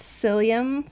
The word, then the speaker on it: psyllium: But then I realized that I said it wrong, that it was psyllium and not, I think it's psyllium. Yeah, psyllium, like mycelium.